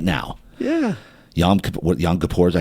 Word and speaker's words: Yom Kippur: Yom Kippur, is that how you pronounce it? Yeah, Yom Kippur.